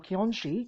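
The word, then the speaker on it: kyonshi: Eastern vampire zombie hybrid Jiangshi or Kionshi, as the Japanese would pronounce it.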